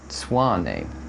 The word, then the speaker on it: Mtsvane: pronounce Georgian wines, but however, so it's spelt Mtsvane on the label, and also in beautiful Georgian script, and he said that it's actually pronounced Mtsvane, so that's quite interesting. So this beautiful Mtsvane wine, let's give it a sniff.